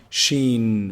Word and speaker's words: ش: So the sheen is pronounced from the middle of the tongue, the middle section of the tongue, and the roof of the mouth.